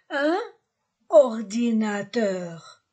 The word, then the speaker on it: un ordinateur: Un ordinateur. On fait une liaison. Un ordinateur.